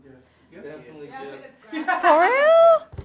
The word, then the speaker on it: GIF: Definitely GIF. Definitely GIF. For real? I'd be saying JIF. Like the peanut butter? I don't see no J up there. That's how the creator says it's supposed to be pronounced.